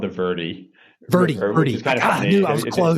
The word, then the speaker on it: Verde: I want to make sure I'm pronouncing it correctly. Verde, the Verde River. We actually in Arizona it's actually called the Verie. Very close. It's not the problem. It's not it's not Verde like I learned.